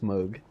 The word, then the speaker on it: Moog: It's like uh it's everyone like pronouncing mispronouncing uh Moog. I got to remember like Moog synthesizers but it's Moog Giger.